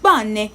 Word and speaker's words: bonne: If the last letter of a word is an E without an accent is usually silent.